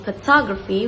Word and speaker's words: photography: For example, in photograph we emphasize the first syllables while in photography we emphasize the second syllables.